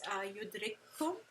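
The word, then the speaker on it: يدرككم: It's almost like the first one disappears, the first letter with the sukoon disappears, and we're just pronouncing the second letter, which is the same as the first, as if it has a shadda, right?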